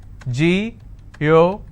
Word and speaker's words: geographic: Ge-o-gra-phic. And the rule says if I have a word ending with IC, I need to stress on the second last syllable. So I'll pronounce this as geographic.